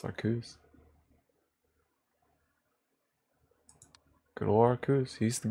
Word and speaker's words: Arceus: Arceus. True. You're right, that is how it's pronounced. It's Arceus.